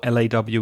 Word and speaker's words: law: One thing was the pronunciation of law, and the vowel sound with law, L-A-W, is or, like door or more, for example. So law.